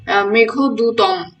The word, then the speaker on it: মেঘদূতম: মেঘদূতের হচ্ছে সংস্কৃত নাম হচ্ছে মেঘদূতম। দূতরণ হসন্তর উচ্চারণ হয় না মেঘদূতম হবে সংস্কৃত নাম কি